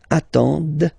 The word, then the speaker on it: attendent: And the last one, same thing, classic ending for il, elle at the plural form, ENT, but then you don't pronounce them. Ils attendent, okay, so remember you get to pronounce this, the D at the end, okay.